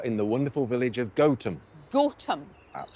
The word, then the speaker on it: Gotham: You are in the wonderful village of Gotham. Gotham. Absolutely. So that's how you pronounce it, Gotham. Home of goats.